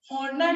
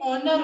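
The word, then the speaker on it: honour: वो बोला कि इसे समझाओ कि हॉनेस्ट नहीं ऑनेस्ट होता है, हॉर्नर नहीं ऑनर होता है, इसमें एज साइलेंट होता है।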